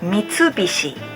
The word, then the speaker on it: Mitsubishi: them number seven Mitsubishi it sounds like it's hard for non-japanese people to pronounce this brand how we pronounce is Mitsubishi Mitsubishi group is the